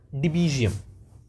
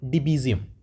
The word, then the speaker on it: Debezium: uh another system design concept which is called deum it's spelled as D EB e z i u m okay so it's called deum and uh if we have to see on